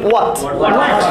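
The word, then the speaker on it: what: বলতে পারি, আমরা কি হোয়াট বলবো না, উচ্চারণ আমরা ডব্লিউ এইচ দিয়ে হ উচ্চারণ করবো না, আমরা ও উচ্চারণ করবো, তাহলে কি হোয়াট হবে নাকি ওয়াট, ওয়াট, ওয়াট, ওয়াট কে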